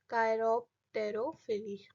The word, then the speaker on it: chiropterophily: Like you can note it down, it इज CHIROPTEROPHILY, ठीक है, कायरोप्टेरोफिली।